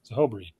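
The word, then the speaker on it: Zehoberei: Zahobri. I believe that's the way you pronounce that.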